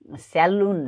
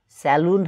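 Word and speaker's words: salon: Makeup पनि गर्छ, त्यसलाई स्यालुन स्यालुन भनेर भन्ने गरेका छन्. स्यालुन होइन स्यालन स्यालन स्यालन, यस्तो उच्चारण हुनु पऱ्यो स्यालन.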